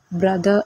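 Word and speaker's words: brother: അതേപോലെ ബി ആർ ഒ ടി എച്ച് ഇ ആർ, ഇത് വായിക്കേണ്ടത് ബ്രദർ എന്നാണ്.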